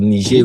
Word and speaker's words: Niger: and Niger State, or Niger Republic, rather, not Niger State, Niger Republic. Sorry, this guy it may look like Niger, but it is pronounced Niger because it is French.